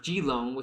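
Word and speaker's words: Keelung: Uh, Kong is actually pronounced Gilong.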